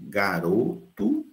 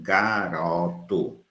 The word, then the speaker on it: garoto: Mas aí você tem duas pronúncias, garoto, garoto, olha o ozinho fechado, garoto, e no outro você tem garoto, garoto, olha o ozinho aberto.